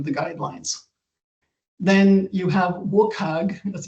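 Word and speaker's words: WCAG: Then you have Wukag as it's strangely pronounced who have developed um they have guidelines that were developed to make digital content accessible to people with disabilities.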